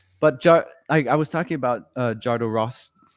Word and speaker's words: Jodorowsky: I can't pronounce it. Jodorowsky.